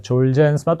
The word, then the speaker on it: 졸겐스마: 이거 어, 원래 발음은 졸젠스마입니다. 왜 겐이라고 했는지 모르겠지만 어쨌든네 졸젠스마 또 졸겐스마인데요.이 이 졸겐스마는 어 척수성 근축증 스파이널 musc atropy라고 하는 아 사실 치명적인 질환인데요.